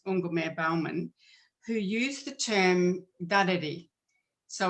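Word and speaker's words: dadirri: Miriam Rose Ungumare-Bauman, who used the term dareri. So it's spelt, and I'll put it in the chat in a minute, but so it's spelt different to how it's pronounced.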